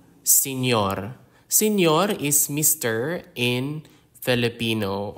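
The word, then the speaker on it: señor: is commonly used in Filipino names examples are senor senor senor is Mr in Filipino or also in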